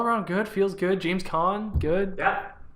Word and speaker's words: Caan: James Caan. Caan. The Wrath of Khan.